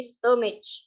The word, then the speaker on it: stomach: You shouldn't go to school on empty stomach. Yes. Yang manakah yang silent? Stomach.